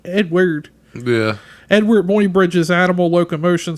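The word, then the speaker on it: Eadweard: SP I gotta think it's Edward but the way it's spelled e a d w e a r d Edward yeah Edward muybridge's animal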